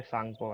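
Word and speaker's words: Tsangpo: ठीक है, इधर से आ रही है, इसका नाम यहाँ पे सांगपो है। टी से स्टार्ट होता है, सांगपो। टी साइलेंट है इसके अंदर।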